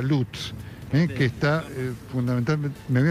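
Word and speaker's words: Lutsk: Esto está ocurriendo en una esquina de la localidad de Lusk, que se pronuncia Lutz.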